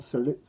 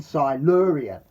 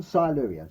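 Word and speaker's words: Silurian: son tyron one celeria one salute i can never pronounce that one it catches me out once the one silerian that's it one silerian so i'll say that again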